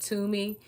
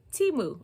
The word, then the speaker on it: Temu: haul the first one I said the name wrong the whole time I kept saying to me it's just two huh I thought you called me to me just sounds better but we're gonna say Teemu okay because that's who